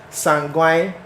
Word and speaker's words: sanguine: extroverts we have the Sun going or otherwise known as some grind that's the correct you know pronunciation sanguine and the choleric so